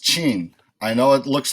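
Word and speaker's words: Qin: it's looking for his family name this is pronounced Chien I know it looks like Queen but it's Jean and that's actually where the name of China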